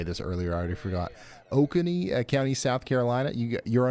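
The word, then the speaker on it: Oconee: Uh Raven County, Georgia and um Okuni, you guys told me how to say this earlier. I already forgot. Okoney County, South Carolina.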